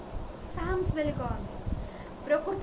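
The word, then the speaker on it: Psalms: मात्र ग्रीक रे जेहेतु सामोई कह जाउतला ता लाटिन रो आसी अछि तेणु ताकू बेस करके इंग्लिश रे साम्स बेली कहती। पी साइलेंट रोची साम बेली कहती।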